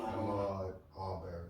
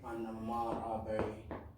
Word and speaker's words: Ahmaud Arbery: Ahmaud Arbery. Ahmaud Arbery. I don't want to say his name wrong, you know what I'm saying?